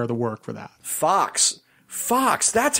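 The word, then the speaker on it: Fuchs: the lion's share of the work for that Fox Fox that's how you pronounce that name yes fu CH s and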